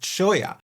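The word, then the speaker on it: cholla: Chola or maybe Choya, because as you all know, I'm a native Mexican. So I'm going to go with Choya.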